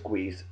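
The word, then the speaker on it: Guice: Is it Guise or Guise? Nah, it's Guise.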